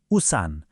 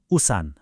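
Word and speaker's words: 우산: खबाङ अब पानी पर्यो भने के चाहिन्छ हो उसान उच्चारण हुन्छ उसान भनेको छा ता ल एकचोटी अभ्यास गरौ है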